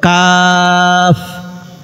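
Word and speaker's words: قاف: কাফ উচ্চারণ হবে পাতলা, যেমন কাফ। কফ উচ্চারণ হবে মোটা, কফ। কাফ কফ কাফ কফ কাফ কফ।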